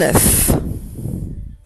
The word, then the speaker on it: œuf: C'est vrai qu'on dit un œuf, on entend le son N, mais il ne s'écrit pas, c'est la liaison avec le N du petit mot 1. Par exemple, si je dis l'œuf de la poule, on n'entend pas n.